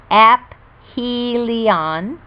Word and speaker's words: aphelion: distance from the sun called aphelion pronounced apph helion it travels at its